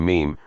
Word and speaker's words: meme: mean ticks is the meme rhymes with team yet unlike an atom